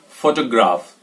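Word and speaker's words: photograph: और next word की अगर हम बात करें, नेक्स्ट वर्ड ये है और इसमें ध्यान में रखना आपको PHO पर जोर देना है और इसको बोलेंगे फोटोग्राफ।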